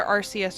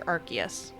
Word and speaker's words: Arceus: on who you ask it's either arceus or arceus i kind of flip flop between the two when i'm talking about it so legends of arceus